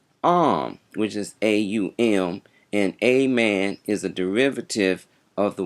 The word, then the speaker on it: Amen: strong, but if you place emphasis on the first and second syllables, it will have more power. So, this is the correct way of reciting the word Amen. That is the correct way to pronounce amen.